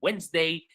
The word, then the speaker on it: Wednesday: And Wednesday, the D is silent.